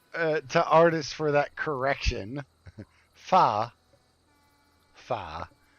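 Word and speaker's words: phở: artist for that correction fa fa with an a even though it's spelled pH fo but fa fa is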